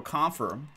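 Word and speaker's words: Kampfer: Rookie auto and patch, JT Confer, or Confer, 172 out of 299. Either way, both pronunciations are acceptable according to Webster's.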